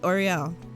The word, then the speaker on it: Oriel: Why did I say Oriel? No, that's how you say it, Oriel.